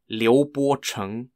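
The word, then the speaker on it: 刘伯承: the palace second field Army was led by Leo borchung spelled l-i-u-b-o-c-h-e-n-g and ping d-e-n-g x-i-a-o p-i-n-g UNG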